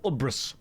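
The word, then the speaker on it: UBRS: We are going into Upper Black Rock Spire or Uras as it's pronounced.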